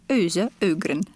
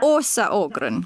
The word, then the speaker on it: Åsa Ågren: I'm Juka, and today my guest is Åsa Ågren. Did I pronounce it correctly? No, you didn't. It's Åsa. Åsa Ågren.